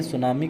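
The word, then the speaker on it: tsunami: पर सुनामी शब्द आया यह सुनामी किस भाषा का शब्द है जापानी भाषा का शब्द इसको सुनामी लिखा जाता है इसमें टी साइलेंट होता है कई बार एग्जाम में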